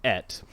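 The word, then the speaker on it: את: Yeah, but apparently it's pronounced Et.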